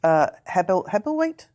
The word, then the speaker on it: Hebblethwaite: The chief executive, Pete Hebblethwaite. Is that if I pronounced it right? Yeah, it is Hebblethwaite.